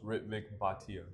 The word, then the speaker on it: Ritvik Bhatia: Ritvik Batia. Batia. Okay, an extra syllable.